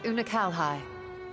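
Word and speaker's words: Unukalhai: that world a useless void you remember unakalhai the unusual child we met during our troubles with a warring that's how you pronounce his name he explained the fate of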